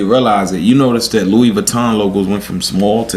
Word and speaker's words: Louis Vuitton: Nigga, excuse me, that ain't Louis. He's gonna excuse me, that's Louis Vuitton. Exactly. You're pronouncing it wrong.